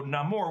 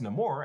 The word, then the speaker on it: Namor: So Namor wasn't just Tenoch Huerta pronouncing it differently, they actually worked in a bit of Spanish wordplay to cast Namor as proudly without love for humans.